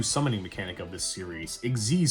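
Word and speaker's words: Xyz: Exiz summoning. Yes, that's how you pronounce it.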